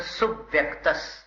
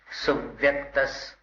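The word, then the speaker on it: सुव्यक्तः: स्वसंवेदन को अलग कर दिया, फिर सुव्यक्तस एकदम सरल हो गया। स्वसंवेदन सुव्यक्तस, कैसा क्या हो रहा है? सुव्यक्तस, बस स्वसंवेदन सुव्यक्तस, सुव्यक्तस, सुप, इस पर जोर दीजिए।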